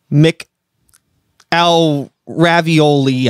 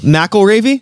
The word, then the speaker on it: McElravy: i'm gonna try mc al ravioli i have no idea what's gonna work what's your name dude how do you pronounce it mcelravy knackle ravy yes sir okay i apologize for